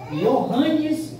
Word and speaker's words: Johannes: Só que quando chegou esse homem aí, aí tá com J, né? Mas é um alemão, né? Então, mas eles pronunciam I, né? Johannes Gutenberg.